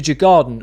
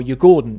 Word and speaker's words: Djurgården: This Thursday is the first leg of the U away Conference League semi-finals where Chelsea go away to Jagard or Yordon is I think how you pronounce it.